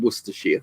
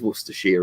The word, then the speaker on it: Worcestershire: Yeah, Worcestershire is how they say it, isn't it? Not rather than Worcestershire. It is Worcestershire, isn't it? Worcestershire.